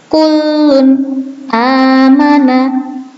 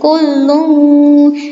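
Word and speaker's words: كُلٌّ آمَنَ: Nah, di sini ketika nun sukun atau tanwin bertemu dengan hamzah, bacanya harus jelas. Kullun amana. Nggak boleh kullung atau kullun. Nah, itu nggak boleh.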